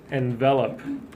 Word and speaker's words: envelop: Number 4, envelop. So envelop, so it's spelled almost like envelope, but the end just goes up, right?